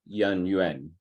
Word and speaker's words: Yan Yuan: Both are actually correct. No, Yan Hui or Yan Yuan. Both were correct.